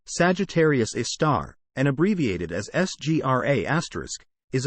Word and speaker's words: Sagittarius A*: Sagittarius A, pronounced Sagittarius A star, and abbreviated as SGRA*,